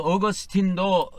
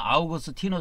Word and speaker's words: 어거스틴: 여기다 넣었습니다 폴리갑 저스틴 이건 전부 다 어 라틴어 발음이 아니고 영어식 발음이에요 그래서이 저스틴도 어 라틴어 식으로 발르면 유스티누스 이렇게 됩니다 그래서 어거스틴도 영어권에서 많이 쓰기 때문에이 아 원래는 라틴어로 바라보면 아우구스티노 스데 어거스틴 보통 영어권에서